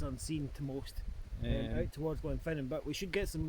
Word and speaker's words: Gulvain: So there's two ways of pronouncing it. There's it's Gulvain to us English, and then the Gaelic pronunciation is Garvain.